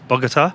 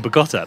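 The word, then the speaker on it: Bogotá: on here in Bogota always say it wrong Bogota all the time I keep saying but gotta based in Bogota it seems to be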